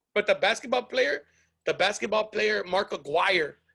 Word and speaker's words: Aguirre: I've seen people who pronounce it Aguirre. And I'm like, your last name is not a fucking Aguirre, man. It's Aguirre. They just gave up and